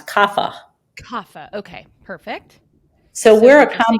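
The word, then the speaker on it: Kapha: okay it's actually k a p ha a pronounce kafa kafa okay perfect so comb this reminds me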